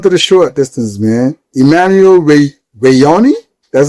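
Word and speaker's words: Emmanuel Wanyonyi: Emmanuel Reonei, that's how you say it.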